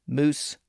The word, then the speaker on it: mouse: They were originally pronounced hoose, moose, sooth, and coo.